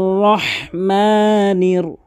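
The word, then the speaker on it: رحيم: আরহ আর রহমানির রহিম। কখনোই রহিম বলবেন না। রহিম রহিম। আর রহমানির রাহিম।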